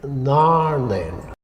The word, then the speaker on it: Narnain: I have never heard the name of this mountain pronounced by a Gaelic speaker, but if Narnain is one word, it must be pronounced in Gaelic Narnain.